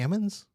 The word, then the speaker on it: almonds: It's ammons. It's not incorrect, though. She made an argument immediately that made me question myself. I was just like, there's an L in it. It's almonds.